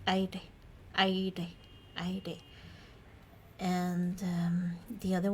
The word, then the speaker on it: aire: strong R, and also we have a subtle, more subtle pronunciation of this R, which would be in, for example, the word aire, maybe, and the word aire, which means air.